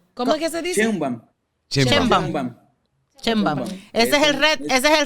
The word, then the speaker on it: Sheinbaum: Sheinbaum.